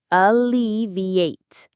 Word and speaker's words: alleviate: The stress is on the second syllable, L-E. Let's say it slowly together. Alleviate. Alleviate. Alleviate. Perfect.